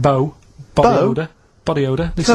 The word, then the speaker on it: BO: and it smells like bow. Body odor. Body odor. It's bo. It's bo. That's Well, yeah, but you've got to play. It's not pronounced bow and it's not spout bow.